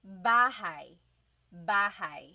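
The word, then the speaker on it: bahay: into this lesson okay so house inog is bah bah try saying that with me bah bah you might notice that the spelling is a y at the end so it looks like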